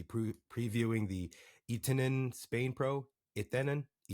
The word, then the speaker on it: Etenon: Etenon. I believe that's how you say it in Spanish.